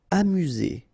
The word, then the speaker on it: amusé: Amusé, okay, accent aigu at the end, so E, Z, amusé.